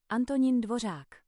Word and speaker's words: Antonín Dvořák: It's a Czech name. Czech. How do you say his name? Antonín Dvořák. That is correct.